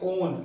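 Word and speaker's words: -one: इसके लिए secondary suffix use करते हैं ओन, ONE, राइट। स्पेलिंग 1 जैसी लग रही है बट बोलना ओन है।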